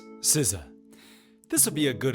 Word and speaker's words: SZA: Another standout for me from this was uh Zaza. You know what I didn't even look up is how to pronounce her name. How would you say it? Future Tony here. It's Siza.